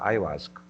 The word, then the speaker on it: ayahuasca: que é sobre essa medicina, né, amazônica, a ayahuasca, a pronúncia está correta?